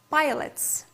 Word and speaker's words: Pilates: next physical activity is Pilates or in some countries it may be pronounced like Pilots pilate or Pilots if you will hear such kind of definition so be sure that it's okay because in different countries it depends on Country it depends on uh gym pronounced in different way so what is it